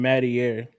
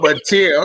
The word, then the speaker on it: Mateer: I'm laughing because you pronounce his name Mattier like he's Italian. What is it, Mateer? Oh, Mateer.